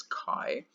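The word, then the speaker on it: χ: called Chi cult Chi it's written Zhi but it's pronounced as Chi and Chi of a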